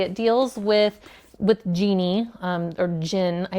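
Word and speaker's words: djinn: It deals with Genie, or Jinn. I'm pretty sure the D is silent. D-J-I-N-N.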